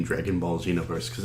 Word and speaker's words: Xenoverse: the name Dragon Ball Xenoverse cuz it sounds like you're saying Dragon Ball Z no verse no verse that's great I love that and it's spelled with an X that that's the part